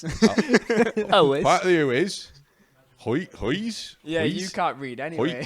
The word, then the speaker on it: Huis: Huis.